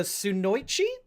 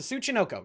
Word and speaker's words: Tsuchinoko: It's the Sunoichi, I think is how it's pronounced. I'm gonna look up Japanese snake Japanese snake cryptid. I think it's called Tsuchinoko. It's the Tsuchinoko, excuse me.